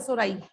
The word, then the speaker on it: sori: sporangia, sori, SORI, वो मैंने board पे लिखा हुआ है सोराई।